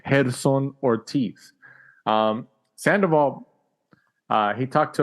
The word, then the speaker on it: Gerson: Ricardo Sandoval gets the 21st win of his career over the second round KO over Gerson Ortiz. That's how you say it in Spanish. Gerson Ortiz.